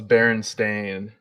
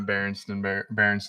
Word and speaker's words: Berenstain: Oh, it's Berenstain, not Berenstein Bears. It's Berenstain Bears. Berenstain Bears. It's not spelled. It's spelled Berenstain.